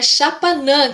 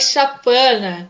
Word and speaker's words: Xapanã: Ah, então é Chapanã que pronuncia o Isso, nome? é Ah, eu falei Chapana.